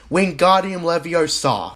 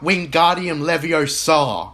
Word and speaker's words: Wingardium Leviosa: that the pronunciation is Wingardium Leviosa, not Wingardium Leviosa, where in the book, the emphasis is on the gar in the spelling.